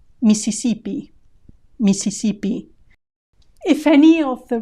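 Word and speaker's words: Misisipi: migan migan Mississippi Mississippi here we've lost quite a few letters remember that the written s in Spanish is always SE Spanish does not have the sound Z that sound does not exist in Spanish so there is no need for a double s in written Spanish missipi Mississipi if any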